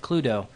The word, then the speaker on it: Cluedo: I don't know if I'm pronouncing right. It's like Cludo.